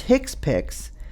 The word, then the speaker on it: HCPCS: HCPCS Level 2, pronounced HCPCS, stands for Healthcare Common Procedural Coding System.